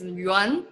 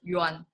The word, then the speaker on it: Yuan: Hi, my name is Yuan. So the proper pronunciation is Yuan.